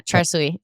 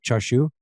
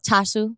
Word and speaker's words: chashu: is sh yes yeah charu remember CJ was here and he was like that's not how you pronounce it it's like chashu oh chashu yeah chashu yeah chashu